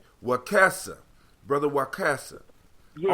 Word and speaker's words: Wakesa: Wakesa. Brother Wakesa. Yeah, right. It's short E's are like short E's and egg F.